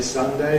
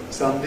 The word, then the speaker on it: Sunday: You can say ‘Sunday’ /ˈsʌndeɪ/, ‘Monday’ /ˈmʌndeɪ/, ‘Tuesday’ /ˈtjuːzdeɪ/, ‘Wednesday’ /ˈwenzdeɪ/, or you can say ‘Sunday’ /ˈsʌndi/, ‘Monday’ /ˈmʌndi/, ‘Tuesday’ /ˈtjuːzdi/, ‘Wednesday’ /ˈwenzdi/.